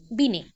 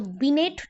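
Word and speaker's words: Binet: तो बीनेट नहीं बोल के बीने बोलना, प्रोनाउंसिएशन इज बीने, लिखने में बीनेट।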